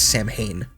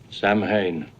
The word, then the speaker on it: Samhain: the Festival of Samhain, which Loomis incorrectly pronounces as Samhain. Samhain. It means the Lord of the Dead.